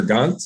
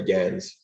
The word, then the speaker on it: Gans: is it Gans or Gantz, or how do you say your name? We go by Gans.